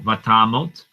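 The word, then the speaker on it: ותמת: Okay, now vatamot. Now notice I say tamot with an O sound.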